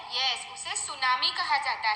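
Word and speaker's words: tsunami: जाता है यह इससे सुनामी कहा जाता है पहली दृष्टि ऐड न्यू नोएडा मे तूनामी रीड हम सुनामी करते हैं पर आगे जो टीम होता है वह साइलेंट है तो आपको जहां पर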